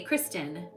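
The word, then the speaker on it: Christin: And then it's Christian or Kristen. I got to check that. Let me look. Um, I had a huge epiphany. Kristen.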